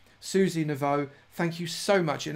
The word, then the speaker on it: Naveau: very much to Susie Naveau. Have I said that right, Susie? Please do tell me if I've said that right. I'm pronouncing it as in O, as in water. Susie Naveau, thank you so much.